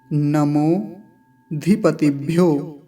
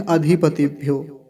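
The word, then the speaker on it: नमोऽधिपतिभ्यो: अब कुछ लोग यहाँ बोलते हैं अधिपतिभ्यो, ऐसा नहीं बोलेंगे। पिछली कक्षा में भी मैंने बताया कि ये जो चिन्ह बना हुआ है अवग्रह का, इसका उच्चारण अकार नहीं होगा।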